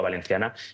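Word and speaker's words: València: académicos de la lengua valenciana, que es justamente que el acento pueda ser también el acento cerrado, que es fonéticamente lo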